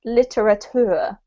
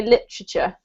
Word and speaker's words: literature: the thing about um when we have a British accent is that we actually squash this word up so I actually say literature which doesn't sound anything like what what it looks like um and because the